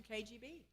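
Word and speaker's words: Cagey Bea: Uh let's do Let's do KGB. KGB. All right. That's spelled C A G E Y B E A.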